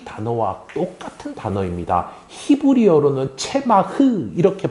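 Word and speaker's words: צמח: 히브리어로는 체마흐 이렇게 발음하는 단어인데요.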